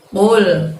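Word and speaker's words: قل: Qulnya ngucapinnya masih ingat teman-teman? Ya, menggunakan pangkal lidah kalian yang hingga menyentuh langit-langit ya, supaya tidak mengubah maknanya. Qul, seperti Miss Yuli minggu lalu sampaikan, ngucapin qul di situ tidak ada pergerakan bibir, tidak masalah karena sumber pengeluaran hurufnya adalah dari pangkal lidah kita hingga menyentuh langit-langit.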